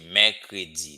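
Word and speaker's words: mèkredi: Here you say mercredi. There's a grave accent here. So whenever I pronounce this sound E, as if as in bed, okay?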